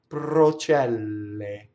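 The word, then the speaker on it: procelle: And how do we make a double P? We go up to the P and we don't say it. Watch. Pprocɛlle. Right? See? So I say I go up to the P, I don't say it, and then I say it.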